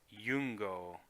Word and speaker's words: Iungo: I you NGO or Lu NGO but it's pronounced yung go and that is I ng now yung go